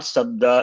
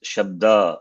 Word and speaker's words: शब्द: But what I want to say is, you said Hari Sabda, not Sabda, it is Shabda.